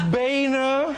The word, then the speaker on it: Boehner: a new set and I learned how to pronounce your name bner all right it's the old Boehner pronouncer joke